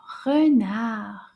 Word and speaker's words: renard: Now, renard has some silent letters at the end. Those letters are quiet. They don't say anything.